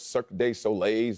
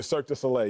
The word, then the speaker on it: Cirque du Soleil: and go to those circuit day soleils is that how they say i mean cirque du soleil yeah cirque du soleil